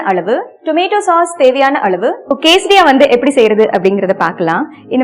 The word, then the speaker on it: quesadilla: கேசரியாக்கு ஸ்பெல்லிங்க்கும் அந்த இருக்கிற ப்ரொனவுன்சியேஷனுக்கும் சம்பந்தமே இல்லை. QUESIDILLA. எல் ப்ரொனவுன்சியேஷன்ல வரவே வராது. எல் is absolutely silent.